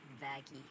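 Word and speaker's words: Vaggie: want to know wow actually it's pronounced vaggy no no anyway you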